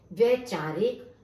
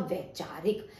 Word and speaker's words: वैचारिक: देखिए जब हम उच्चारण करते हैं, आप किसी भी चीज का उच्चारण करके देखिए, वैचारिक शब्द हम नहीं बोलते हैं, तो ये आपका गलत। ना कि हम कोई विचारिक शब्द बोलते हैं तो विचारिक भी नहीं होगा, और विचौरिक भी कोई शब्द नहीं है, हम बोलते हैं वैचारिक। जब कहते हैं ना कि वैचारिक मतभेद, कि विचारों का मतभेद आपस में होना, तो वैचारिक हमारा सही उच्चारण है और यही इसका सही उपयोग होगा।